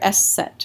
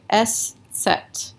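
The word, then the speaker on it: Eszett: about the s set this is how you say the letter s set right s set that's that's how you pronounce that letter s set and so most people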